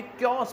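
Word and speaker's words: chaos: Dear students, आपने याद रखना है कि इसको आपने क्योस पढ़ना है।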